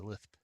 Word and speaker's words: Lisp: It's kind of fun to basically see the program translated into Lisp. By the way, that's the canonical way to pronounce Lisp.